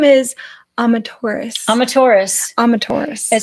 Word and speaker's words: Amaterasu: But if you say Amaterasu really fast, that's how you say it. Amaterasu. And so the U at the end of it is silent.